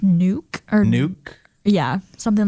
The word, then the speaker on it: Nuuk: a stab of that I think it's pronounced nuke or nuke yeah something like that that sounds that sounds like it would work or n maybe nuck it could be nuck yeah either way uh it's Nuuk it is the capital city of the country